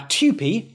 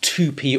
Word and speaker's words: TUPE: simple and practical terms now tupi often mispronounced 2p or tupe tupi is the acronym used to refer to the transfer of undertakings protection of employment regulations 2006.